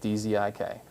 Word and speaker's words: Dzik: Dzik, Dzik.